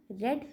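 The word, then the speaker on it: read: Run, right रोट written, रेड रेड रीड रेड रेड। देखो होता क्या है कि रीड का जो है ना हमारा, आपने स्पेलिंग में तो तीनों में सेम लग रहा है, रीड रीड रीड, लेकिन इसको पढ़ेंगे रीड रेड रेड।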